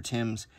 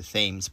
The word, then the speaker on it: Thames: I had to go to England before I even knew that that river was not called the Thames but the Thames.